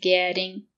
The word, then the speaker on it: getting: Right now in the moment is getting on the bus. The letter T is between two vowels.